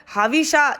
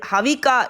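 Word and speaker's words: हविषा: உதாரணமாக ஹவிஷா என்று புருஷ சூக்த வருவதை அவர்கள் ஹவிகா என்றே சொல்வார்கள்.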